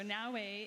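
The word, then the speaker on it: Naoe: Am I pronouncing that correctly? Yep, Naue.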